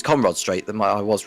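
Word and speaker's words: Conrod Straight: On the Conrad Straight, or Conrad Straight, if I pronounce that correctly. I get confused between the pair of them. It's Conrad Straight that I was right first time.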